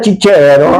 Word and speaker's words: Cicero: Había una señorita que se que se se apellidaba cicero, pero la ci en italiano se dice chi. Entonces cuando la llamaron, señorita Chichero, la pregunta era si tenía Chichero o no tenía chichero.